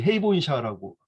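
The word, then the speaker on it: 平凡社: 이 헤이본샤라고 읽는데 이 평범사의 이 백과사전을 제가 지금 가지고 있습니다.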